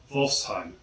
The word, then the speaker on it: Wolfsheim: Therefore, the X is pronounced X. And next we have Wolfsheim. Wolfsheim.